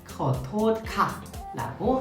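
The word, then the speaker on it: ขอโทษค่ะ: 드리면 절로 사과가 나오니까 커터칼을 죄송합니다 이렇게 우셨는데서 유용한 표현인 거 같아서 어 제가 한번 슬쩍 도용을 해봤습니다 그래서 여러분들 커터칼 하면은 죄송합니다 아 정확한 발음은 다시 한번 해볼게요 토크라 토카라고 하시면 되겠습니다 그리고 한 가지 더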